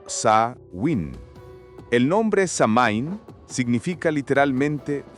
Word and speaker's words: Samhain: celebraba una fiesta llamada Samhain, pronunciada como Sa-win.